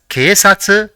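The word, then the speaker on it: けいさつ: the fourth is two so it will be pronounced as K satsu which means polis let us see the fourth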